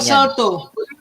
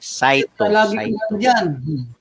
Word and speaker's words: Saito: Gina Saito. No, mali. Saito. Gina Saito. Ulitin mo. Gina Saito. Lagi ang pag-pronounce ka dyan.